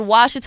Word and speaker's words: Ouachita: from Louisiana what part I thought it was called Ouachita I asked my dad how to spell it he was like you tried to spell it with a W it's spelled with an O somebody told me you